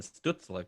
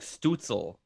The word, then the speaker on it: Stützle: It's like everyone's like Stutzel. That's how that's like a strudel. Yeah, that's exactly. It's like, but no, it's Stützle because it's German and it's got I forget what the term is. 2 dots over umlaut. The umlaut. It's like Stützle. Yeah, it's Stützle.